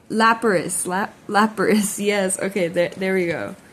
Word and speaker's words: Lapras: Larapis. Oh, I was just saying this earlier today. I'm so sorry. I might have smoked a little flower, so I apologize for my mispronunciation. Lapras.